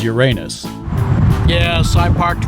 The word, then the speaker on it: Uranus: Not the planetary pronunciation Uranus. This is Uranus.